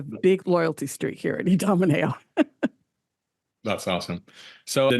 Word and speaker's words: Idomeneo: to pronounce it obviously with uh my Belgian origin the I is the E so you say it's e Domino and being uh maybe